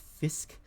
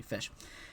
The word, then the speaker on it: fisc: this time and not fisk. On the continent, this was still pronounced fisk in most places. But in Old English, we had palatalization here. After the S, the C becomes sh, so it's fish.